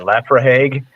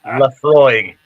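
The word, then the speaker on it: Laphroaig: because I had no idea how to pronounce it, and I was like, "What is that, Lafrahague?" And Yes. Yeah, exactly. no, it's Lafroig.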